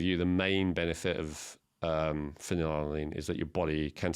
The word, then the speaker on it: phenylalanine: One of the 8 essential amino acids, I always mispronounce, but it's phenylalanine.